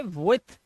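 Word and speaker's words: with: इसे क्या बोलते हैं इसे विद भी बोलते हैं कुछ लोग लेकिन इसे विथ पढ़ा जाता है विथ थ थ इसी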